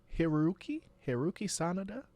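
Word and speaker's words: Hiroyuki Sanada: And then you know you had like the old school youngins like how do you say his name, Hiru- Hiruki Sanada.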